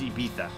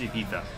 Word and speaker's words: Ibiza: The correct peninsular Spanish pronunciation of Ibiza is Ibiza. They pronounce their Z's as THs in peninsular Spain. Or peninsular Spanish, rather. Fun fact. No, it's not a hard Z. It's Ibiza.